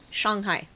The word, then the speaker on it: Shanghai: So tonight we talk about Shanghai. Sorry, Shanghai. The A is pronounced ah.